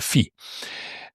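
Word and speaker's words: φι: And a fish ball begins with a fee. And so this is how you can try to remember it. Perhaps it helps you. The fish ball on a stick is a fee.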